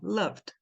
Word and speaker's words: loved: aham que que acontece esse e é mudo esse o tem som de A tá e o resto você dá uma embolada ali que sai assim ó Loved é uma sílaba só vamos lá pensem na